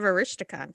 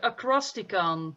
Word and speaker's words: Acrosticon: He's probably a big fan of Aristocon too. Yeah, it's a Acrosticon. I was just gonna say We've all been saying it wrong.